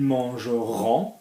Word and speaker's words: mangeront: So when we use this in the future, so ils mangeront, we're going to say on.